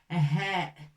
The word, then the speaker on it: ه: On ne prononce pas ha, mais en arabe, on le prononce souvent et bien ha.